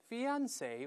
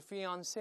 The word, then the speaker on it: fiance: 再来一遍，fiance，重音在中间或者在后面都行，fiance 或者 fiance 都可以啊。